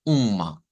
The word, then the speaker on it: uma: habíamos visto la de Uma Uma que es una u nasalizada verdad decíamos que esto es una nasalización um um Uma Entonces si lo hubiésemos transliterado yo les diría miren es como que ustedes hagan una u con una eh un así con una ñ y luego le pongan m ya Uma um y